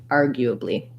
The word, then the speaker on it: arguably: two more short syllables argue a blee so a tense e at the end a schwa here arguably um it's not super easy because we have um the l and the r's in there so you might want to break it down syllable by syllable r you uh blee and then speed back up you just want your length here and these other three unstressed balls to be shorter then let's check out your